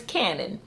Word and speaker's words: Canon: out this entire video I have been saying his name wrong it is Canon and it's really cool